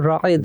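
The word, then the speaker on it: رائد: इसी वजह से आपका नाम जो है वो रायद है, वो जो प्रोनाउंसिएशन में मैं पढ़ते क्योंकि हम उर्दू में पढ़ रहे होते हैं। जी जी, रायद, रे अलिफ हमजा और दाल, रायद, ठीक है।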